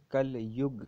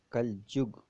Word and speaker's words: کلجگ: ایک یادگار نظم ہے۔ کلجگ کو ہندی میں کل یگ کہا جاتا ہے۔ یو کا تلفظ اردو میں جو ہوتا ہے، اس لیے کلجگ اردو میں کہا گیا ہے۔ اس نظم میں نذیر